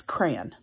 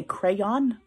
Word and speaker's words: crayon: what word is that to me that's crayon I cannot say crayon cuz it's like rayon like crayons Crayola Crayons